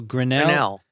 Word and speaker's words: Grinnell: grinnell is how do you say it michael grinnell grinnell you go he's going back to grinnell